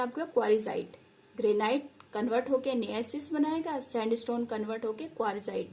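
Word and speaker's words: gneiss: देगा और क्या बनाएगा, नेसिस। क्या बनाएगा, जी साइलेंट होता है यहाँ पे, ठीक है। क्या बनाता है, नियसिस।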